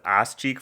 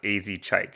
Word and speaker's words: Az Chike: And I also did enjoy the feature, whose name I thought was Ass Cheek for a second, but I searched it up, and apparently he gets that a lot, and his name is actually pronounced AZ Chike, so yeah, the more you know.